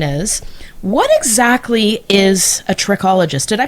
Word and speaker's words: trichologist: So, why don't you tell us my first question is what exactly is a tririccologist? Did I pronounce that correctly?